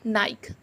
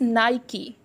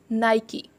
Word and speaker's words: Nike: Especially in India, I've heard so many people calling it Nike. They are using it, but still they are pronunciating it incorrect. But it is Nike. It's not Nike, guys. It's Nike.